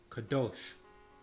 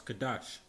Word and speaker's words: kadosh: the same hebrew word kadosh or some will pronounce kadash it means to be